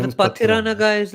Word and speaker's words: Pathirana: Mahesh Thikshana, and how do you pronounce this guy's name? His So name the is Pathirana.